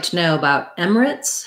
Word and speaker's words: Emirates: say i do say emirates i do say three syllables i don't go all the way to emirates emirates but this is quite reduced so it's close it almost gets down to two syllables red tent for the